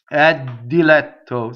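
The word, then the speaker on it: diletto: Notice the doubling for the D. Ddilɛtto. See, not a big deal for double D, right? Ddilɛtto, double T, but no double L, right?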